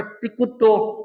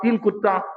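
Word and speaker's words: तिक्खुत्तो: अब बोलना तो है तिकुत्तो, अब बोलते आप 3 कुत्ता तो अर्थ का अनर्थ हो जाएगा।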